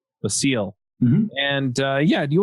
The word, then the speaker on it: Basile: you say your last name I need the seal the seal hmm and yeah do you want to just